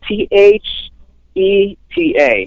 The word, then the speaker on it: Theta: new feta pedal and you say feta how how do you spell that it's uh t h e t a oh Theta T Theta yeah oh T I thought it was like gonna be like Feta cheese oh Theta th th